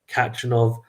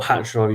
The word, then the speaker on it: Khachanov: Khachanov, or Khachanov even, sorry, I should probably pronounce his name right.